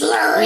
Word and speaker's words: Lurie: My name is Lurie. Lurie. It's like Larry, but it's spelled with a U.